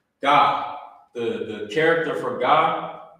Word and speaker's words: Gad: name like this Gad but in the ancient Hebrew remember you will pronounce it you will pronounce it God in in the ancient